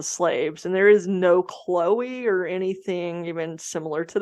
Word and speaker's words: Chloe: of lore um and her name is spelled c-h-l-o-e and for some reason I keep wanting to say Cleo but it's Chloe um because that had